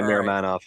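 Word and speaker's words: Miromanov: To Vancouver, a first-round pick, Laurent Brossoit, and Daniil Miramanov. Do I pronounce that right? Yeah, Miramanov.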